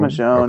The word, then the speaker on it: Michonne: would have Yeah, it's Michonne. Michonne. Okay. Yeah, she's a character from The Walking Dead. Oh, okay. Okay. The Michonne miniseries comes out for